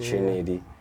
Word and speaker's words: Triniidy: so I you know I pronounce it how I write it Trinity um I'm yeah I